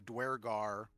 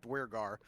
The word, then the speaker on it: duergar: always said too but there's not an r in it there's not that extra r but there yeah so i i looked it up they're pronounced duergar um some of them